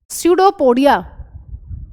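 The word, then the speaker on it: pseudopodia: amoeba capture food amoeba capture food using सडोपोडिया P silent है जैसे knife में के साइलेंट होता है सडोपोडिया ब्रैकेट में लिख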